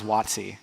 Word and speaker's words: Watsi: fundraising the town was wattsy and it's in the southeast part of Costa Rica it spelled ua TSI phonetically some people spell it wat si but no one could